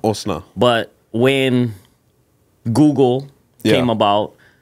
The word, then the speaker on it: Osnizzle: But it's spelled O-S-N... I-Z-Z-L-E. Yeah, now I always thought, like, what is the correct spelling? Okay, so name is Osna. Osna.